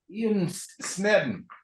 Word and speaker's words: Sneddon: Ian Sneddon. That's correct. How do you pronounce it?